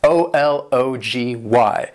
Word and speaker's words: ology: That first one is a short O sound, and the second O is more of a schwa sound.